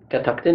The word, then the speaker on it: Catoctin: to virginia and well catactin it is am i saying it right yes that's right cataclysm creek very good